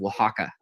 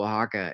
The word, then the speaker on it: Oaxaca: um and specifically the usage coming out of Oaxaca in Mexico and Oaxaca is spelled o-a-x-a-c-a not how you think it would